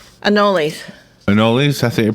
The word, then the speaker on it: anole: flick aura yes lizards anals anoles anole something you pronounce it yeah I know anal so the longest time and then anole Blizzard this is fine